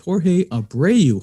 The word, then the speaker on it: Jorge Abreu: multifamily i'm your host justin fraser here with jorge abreu jorge thank you so much for coming on